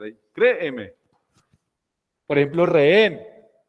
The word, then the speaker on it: rehén: Esta sí es aguda y termina en N. Rehén. Hay una cosa aquí particular con lo que tiene que ver con la H muda. Como todas estas son normas fonológicas que tienen que ver con los sonidos, la H no existe. O sea, como la H no suena, para las normas de